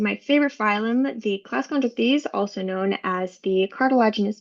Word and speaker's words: Chondrichthyes: They're the class Chondrichthyes, that is how you pronounce that term.